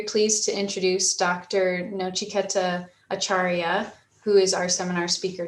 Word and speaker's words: Acharya: say your last name for me uh it's acharia acharia okay thanks yeah people confused with acharia akaria because most of the people call me akaria which is different Char okay yeah so I'm